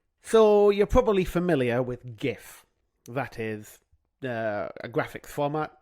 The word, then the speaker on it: GIF: And the word graphics begins with a hard G, a G.